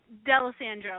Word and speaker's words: Dalessandro: I didn't Slaughter your last name did I delis Sandro yeah everybody Slaughters both of them so I'm